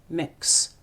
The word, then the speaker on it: Mx: loves the work students call them MX Ox pronounced mix the term has been used for non-binary people